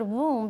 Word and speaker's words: womb: the uterus is womb I like the word womb because it rhymes with the word room it's a room inside